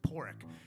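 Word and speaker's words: Pádraig: like your padraig but they pronounce it pork and it's it's you know irish for patrick we got this crappy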